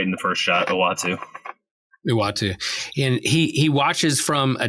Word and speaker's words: Uatu: I say Utua. I never could pronounce the big cosmology.